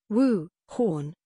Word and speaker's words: Wuhan: played a central part in november's presidential election wuhan wu horn a city in china's hubei province which was